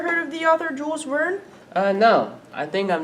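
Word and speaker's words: Verne: well let's learn ha speaking of learn it rhymes with Vern who is the author of the book who inspired her name have you ever heard of the author Jules Vern uh no I think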